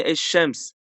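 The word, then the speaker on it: الشمس: Eğer şeddelemezsek, şeddelersek şemsi harf deniyor. Aynı eşşems. Şems, eşşemen aklında tutabilirsin. Eee, eşşems şeddeli okunuyor. Yani elif lam'dan dolayı ilk harf şeddeli okunuyor.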